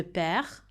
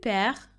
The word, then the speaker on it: perds: Je perds, tu perds, il, elle perd, on perd. And you'll notice that so far, I haven't actually pronounced the D or the S for any of those. It's silent.